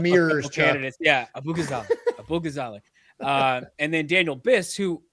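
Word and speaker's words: Abughazaleh: senator, and then you've got Kat Abu Ghazale, I'm gonna say Nice. it right. Beautiful Or try.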